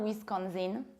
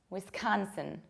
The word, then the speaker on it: Wisconsin: And it's not Wisconsin, but it's Wisconsin.